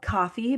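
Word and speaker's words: Ko-fi: so if you go it's called coffee but it's spelled k- fi and you can get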